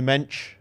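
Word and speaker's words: Mendes: And then they you have the back three Nuno mench. That's the Portuguese. Any any Portuguese people? Cuz that's how they say it.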